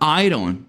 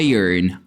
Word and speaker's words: iron: diferente a palavra ferro muito brasileiro vai falar Iron mas a pronúncia correta é Iron Iron Iron Olha que interessante Aqui nós temos